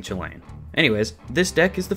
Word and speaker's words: Chulane: his chilean deck and yes i am aware it is probably pronounced holland but i just prefer saying chilean anyways this deck is